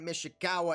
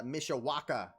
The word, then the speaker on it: Mishawaka: in the south bend mishikawa area or i i knew that butchered that it's a mishawaka area my apologies there chad